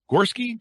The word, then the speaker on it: Gorski: Gorski. Do I have that pronounced rightly?